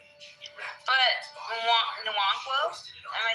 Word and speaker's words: Nwankwo: It's But Nwankwo? Am I saying that right? You're close. You're close. Nwankwo? Nwankwo. Nwankwo? Nuankwa.